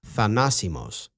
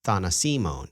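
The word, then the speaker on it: θανάσιμος: So for the record, the adjective deadly is pronounced thanasimos, with the stress on the antepenultimate syllable. Dr. Hillman mispronounces it as thanasimon in the phrase something deadly, thanasimonti, which he thinks is a drug.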